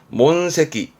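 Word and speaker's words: 問責: 그래서 발음은 몬세기.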